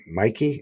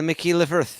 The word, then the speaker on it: McKee: How do you say that name? Mikey? And Mikey? Uh, Anna McKee Anna Okay.